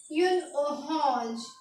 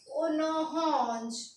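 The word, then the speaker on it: une orange: तो ऑरेंज को हम बोलेंगे यून ओरेंज। क्या बोलेंगे? यून ओरेंज। इसको लिखेंगे, इसकी स्पेलिंग सेम होगी एज इट इज, जैसे इंग्लिश में होती है वैसे ही फ्रेंच में होगी। और इसको हम पढ़ेंगे ओनोहॉन्ज। क्या पढ़ेंगे? ओनोहॉन्ज, ऑरेंज।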